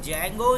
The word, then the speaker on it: Django: सवाल है कि यह जंगो या डिंगो इसको जो भी आप प्रस कर लेकिन इसे हम लोग जंगो ही बोलते हैं डी को साइलेंट रखते तो चलो यह तो